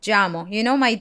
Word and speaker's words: llamo: Yo me llamo. My Y and my double L sounds like a J in English.